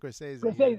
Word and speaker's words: Scorsese: the list because I never know, is it Scorsese? I don't want to look like an idiot. Scorsese. Yeah, you're Italian. You know how to pronounce it.